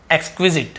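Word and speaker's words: exquisite: यहां पर भी देखिए हिंदी का ए निकल रहा है, ई मत देखिए, ए, एक्सक्विजिट है ना।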